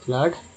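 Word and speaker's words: flood: एफ L double O डी फ्लड में double O का उच्चारण क्या हुआ, तो आ के रूप में, यहाँ पर आ के रूप में हुआ फ्लड।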